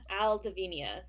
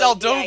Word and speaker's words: Aldovia: Aldovenia. No, that's the wrong one. It's Aldovia. Aldovia.